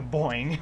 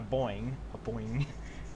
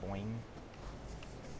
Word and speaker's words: Boeing: The only problem is people make fun of me because I say it wrong. The only reason why I say it wrong is because it's more funny to say boing. Boing. It's technically a boing, which isn't easy to say necessarily, and even that's kind of wrong.